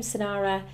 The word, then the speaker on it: Senara: I think the name Sanara is a great choice because it sounds quite exotic um yeah it still rhymes with names like Lara and Zara and Kara so it has a familiar